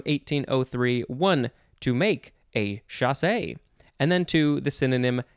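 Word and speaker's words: chassé: next we have chasse c-h-a-s-s-e with an accent on the e so you have to say chasse chasse what did i say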